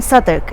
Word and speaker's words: Southwark: So of course that in itself, why pronounce something Southwark?